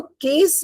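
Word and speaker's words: case: केस बोलते हैं सी ए एस ई कोई केस होता है ना तो केस में when we pronounce केस sound is के क के का साउंड आता है।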